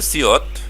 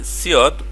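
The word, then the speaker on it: 시옷: এবার আছে সিয়ত। তো মনে রাখতে হবে সিয়ত প্রথমে বসলে স, মাঝখানে বসলেও স এবং যদি নিচে বসে তখন সেটার উচ্চারণ হবে ত।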